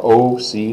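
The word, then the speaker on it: aussi: M OC o like the big capital letter O C like a big cap letter C in English OC that's how it's pronounced so let's say those one after the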